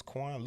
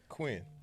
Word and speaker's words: Quinn: the show today Miss Quan Lewis yeah I hey qu how you doing man' first of all my name is qu you gotta be like Quinn Quinn I said Quan one syllable it's said it that